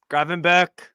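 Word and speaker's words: Gravenberch: graen bur graen graen it's dutch so it's graen be probably be yeah because they get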